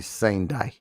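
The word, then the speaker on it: Sendai: And actually E's are pronounced as A's. So it's sai. Okay. Okay. S e n d ai would be sane day because they speak in syllibary sai sanai.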